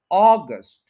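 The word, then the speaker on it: August: थोड़ा ठीक कर ले अब इसके टू सिलेबल्स है ऑ और गस्ट तो फर्स्ट के ऊपर स्ट्रेस है ऑगस्ट यानी ऑ को हम पूरा स्ट्रेस देंगे और गस्ट जो है उसको हम स्ट्रेस नहीं देंगे ये बनेगा अगस्ट अगस्ट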